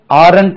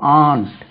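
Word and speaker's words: aren't: R short form பாருங்க இதுக்கு ஆரன்ட் ஆரன்ட் என்று சொல்வார்கள் இது தவறான உச்சரிப்பு பாருங்க ஏ ஆர் இன் டி இதுக்கு contracted form A யூ என் டி அத்தே மாமின்னு சொல்றீங்க இல்லையா இது ரெண்டுமே ஒரே உச்சரிப்பு ஆன்ட் ஆன்ட் ஆன்ட் they ஆர்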